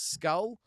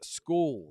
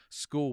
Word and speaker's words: William Scull: It's not Skull, it's Skool.